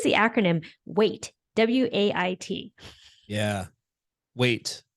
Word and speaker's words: WAIT: Weight. So it's spelled just like the English word for weight, not the weight of your body, but the weight of like weight.